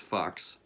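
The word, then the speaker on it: Fux: Also stars Herbert Fox, which, yes, is spelled F-U-X, but is pronounced Fox.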